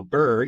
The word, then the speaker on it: BRRRR: So BRRRR, you can think of like being cold, BRRRR. It sounds like it's spelled, but with a couple extra R's.